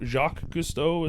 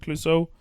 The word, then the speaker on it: Clouseau: Like, but the opening kind of introduction to Peter Sellers, Jacques Clouseau, or how do you pronounce it? Jacques Cousteau, is it Clouseau?